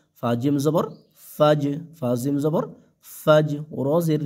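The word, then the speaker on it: الفجر: জবর ফাজ ফাজিম জবর ফাজ রজের রি ফাজরি এখানে যদি আমরা থেমে যাই অক্ফ করি তাহলে ফাজ ফাজ রর উচ্চারণটা যেন শেষে আসে হ্যাঁ ফাজর তাহলে হিয়া হাত্তা মাতলাইল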